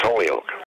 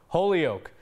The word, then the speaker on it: Holyoke: it's not people have a hard time saying Holyoke I don't know why but it's Holyoke there you go Holyoke mayor Todd Singh says his favorite part of